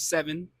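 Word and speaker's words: Cevyn: Uh, my name is Seven. Uh, other known as Kevin. Only certain people know that. Um, but they say seven because it's spelled C E V Y N. So, it's kind of like the name CC, you know.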